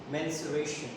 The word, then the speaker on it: mensuration: also known as menstruation the pronunciation is menstruation why do we call